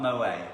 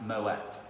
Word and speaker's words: Moët: It's not Moët. Apparently it is, because it is Dutch German, it is actually pronounced Moet.